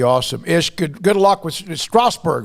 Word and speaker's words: Strasbourg: Ish, good luck with Strasbourg, right?